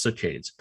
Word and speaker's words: saccades: They jump in patterns called saccades. Sometimes pronounced "sah-caydes".